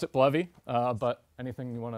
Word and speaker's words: Bleve: bovy what is this I thought it was pronounced believe uh and i' every I would say 5050 people I run into pronounce it bluy or believe uh I pronounce it bluy uh but anything you want to pronounce it